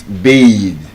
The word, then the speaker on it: bathe: As a verb, it's bathe. As a noun, it has the voiceless th sound. Looking like a tether. As a verb, it's bathe. The voice th.